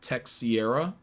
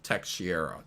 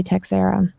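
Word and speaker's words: Texeira: along the lines of text Sierra Tech Sierra well it's a Portuguese last name and you just say text Sarah um okay as soon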